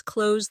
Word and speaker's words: close: The verb rhymes with rose, while the adjective rhymes with dose.